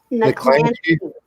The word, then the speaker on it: Niklansky: Am I saying that right, Tommy? Niklansky. What is it? Did I say it right? Niklansky. Niklansky, okay.